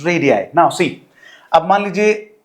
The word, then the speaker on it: radii: Now plural form की अगर बात करें, सो okay, first of all correct the pronunciation. This is radii, this is radii, the pronunciation is radii.